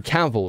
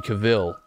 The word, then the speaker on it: Cavill: let go of it it's Henry caval right nobody's walking around saying Henry Caville oh god let's have a look Henry it's Henry caval you all you also